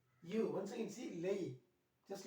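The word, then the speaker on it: lei: plural plural Lee you once I can see lay just like this here lay lay means you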